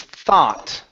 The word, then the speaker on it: thought: is a tricky one the word is thought okay so the o u g in this particular word is an a sound this is American English not not British English so instead of saying